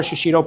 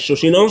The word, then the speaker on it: shishito: How do you say it? Shoshino? Shishito peppers.